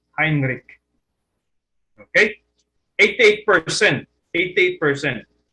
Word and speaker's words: Heinrich: for herbert william heinrich other pronounce it as heinrich it's pronounced as heinrich okay 88 percent 88